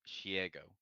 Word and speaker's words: Shiego: But I find it funny because we were talking about that, and it was just like one chick said her name is pronounced Shiego, like Diego, and it's like no, no, we're gonna.